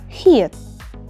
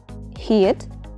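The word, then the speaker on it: 히읗: But in 받침, this letter is pronounced as silent t or just simply silent. For example, hiet. Hiet, it's the name of hu letter.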